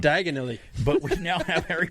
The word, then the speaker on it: Diagon Alley: It says wizards and witches may have Diagon Alley. Don't say it wrong. Diagonally.